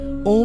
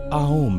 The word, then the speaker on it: ॐ: यहाँ उसका सही प्रोनाउंसिएशन ओम नहीं बल्कि आओम है।